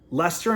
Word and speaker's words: Leicester: So 1 unit, under 2.5 goals, Leicester and Brighton. Now, if you're American or Canadian, I say Leicester, but it's spelled like Leicester or something, but it's Leicester.